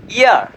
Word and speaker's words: heir: উচ্চারণ এক কিন্তু বানান ও অর্থ ভিন্ন। HEIR ইয়ার, ইয়ার অর্থ উত্তরাধিকারী।